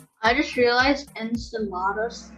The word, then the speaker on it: Enceladus: i just realized enceladus kind of sounds like enchiladas yeah you could say you could say enceladus uh sounds like enchilada